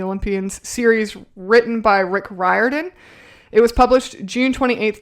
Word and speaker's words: Riordan: It's actually Riordan is how you pronounce his name. So, The Lightning Thief is book 1 out of 5 in the Percy Jackson and the Olympians series written by Rick Riordan.